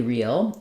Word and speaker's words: reel: like um a movie real and the word real as in true have the same pronunciation and they both demonstrate